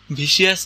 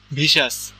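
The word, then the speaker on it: vicious: যেমন এই যে ওয়ার্ডটা এই ওয়ার্ডের স্পেলিং কি ভি আই সি আই ও ইউ এস R pronunciation ভিসিয়াস ভিসিয়াস না কিন্তু ভিসাস ভরেইসা তুমি যখন মুভি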